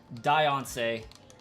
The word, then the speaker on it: Diancie: It sounds better with I. That's a better way of saying it. And I agree. Diancie.